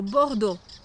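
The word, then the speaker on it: Bordeaux: teraz na zachód do bordu Zwróć uwagę na wymowę tej końcówki i chociaż nazwa tej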